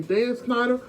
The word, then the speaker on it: Schneider: That's how you say his name, Dan Schneider, from the producer, the creator, the producer of iCarly and all them.